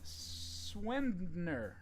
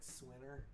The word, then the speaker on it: Swendner: Is it like Swinner? Like he's the Swinner. Swindner. I would say Swindner is probably how you say it.